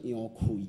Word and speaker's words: 楊逵: 啊，那杨奎应该读作杨奎啦，杨奎啦吼。啊，咱伫只可能大家拢讲伊杨贵，杨贵是